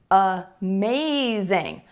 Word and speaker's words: amazing: For example, the word amazing. Amazing. It's not amazing, it's amazing, amazing, amazing. So many words that have more than one syllable in English have a stressed syllable, and then either before or after the stressed syllable, you will hear the schwa sound.